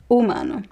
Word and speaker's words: humano: But in word in Portuguese words, the h is silent. História hotel humano, okay?